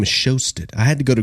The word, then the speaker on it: Sjöstedt: It's got a J in it, Sjöstedt. Can you imagine? Right? There is no J present there, but it obviously is. It obviously is.